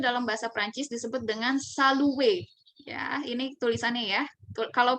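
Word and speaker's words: salut: Nah, ketika ada huruf konsonan di belakang, itu seringnya tidak dibunyikan. Ya, jadi ketika ada R di belakang, itu tidak dibunyikan. Ya, kita bunyikannya dengan salue.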